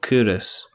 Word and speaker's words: Culross: There's a place along the road from me called Couros. Yeah? Mm-hmm. And it's spelled Culross.